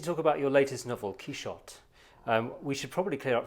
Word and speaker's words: Quichotte: We're here to talk about your latest novel, Quichotte. We should probably clear up, first of all, the pronunciation question. Yeah. Have I pronounced that correctly? Yeah, Quichotte. It's really the normal French pronunciation.